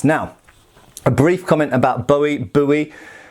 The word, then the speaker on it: Bowie: I understand that a lot of people strongly believe it should be pronounced Bowie. I have to say the name is originally from Scotland, and there's lots of people that surname in England, and we traditionally say Bowie, at least in an